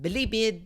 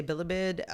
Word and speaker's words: Bilibid: known as Bibid prison bibid prison my mom does not like the way I say bibid um it's toalog word she's all like bibid I mean the emphasis on the wrong syllab I Yeah you okay